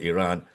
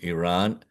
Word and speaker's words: Iran: stretch of water between Iran and the Arabian Peninsula. By the way, it is pronounced as Iran, not Iran. Okay? It's like with an E. Don't even though it's written with an I.